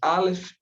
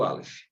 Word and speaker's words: Aleph: Mas no hebraico são duas letras que o Aleph, por exemplo, ele tem um som mais brando e o Ain tem um som mais forte, quase imperceptíveis para nós. Se nós estivéssemos ouvindo uma palavra que contém essas duas letras, quase nós não a perceberíamos, de tão suave que é o som delas, apesar do Ain ter o som mais forte que do Aleph.